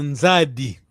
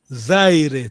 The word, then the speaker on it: Nzadi: Os nossos avós diziam Nzadi. E ele não conseguiu pronunciar Nzadi, que é claro, não podia, pronunciou Zaire, tá bem?